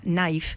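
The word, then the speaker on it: knife: inglés tiene la palabra naife que es cuchill ingl cuchillo esbe con una K adelante que no se pronuncia dice no entonces claro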